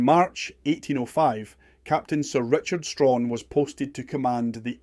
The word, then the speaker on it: Strachan: As a side note, we know Sir Richard pronounced his surname Strawn and not Strachen.